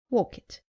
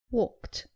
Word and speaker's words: walked: Saying walk it. It is walked.